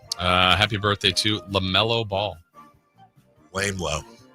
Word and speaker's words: LaMelo: Lame Low. That's how it's pronounced.